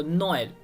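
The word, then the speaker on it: Noël: in French language right तो यहां पर भी अगर आप अटेंशन करेंगे तो यह दूसरा वाला ई जो है सेपरेट प्रोनाउंस हो रहा है यहां पे और आप देख सकते हैं कि ई के ऊपर दो डॉट है सो नोयल तो गाइस चलिए बढ़ते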